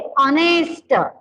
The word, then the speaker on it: honest: Then honest man, an honest man, honest man, यानी इसका उच्चारण क्या है, वॉवेल से ऑनेस्ट, लेकिन उसके स्पेलिंग की शुरुआत कैसे, कंसोनेंट से है।